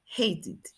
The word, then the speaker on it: hated: Entonces, como termina en T, según las normas que nosotros vemos aquí, el sonido termina en T, hate. Entonces, ¿cómo lo vamos a pronunciar? Como id, el pasado. Hated.